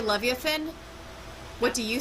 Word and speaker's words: Leviathan: I mean, I've heard both pronunciations. Leviathan is probably a little bit more standard, whatever. Leviathan's a little bit easier to say. rather than, because it has fewer diphthongization. Diphthongization with the I just means I'm pronouncing an extra vowel, and I prefer a little bit more simplicity. So, blah, blah, blah.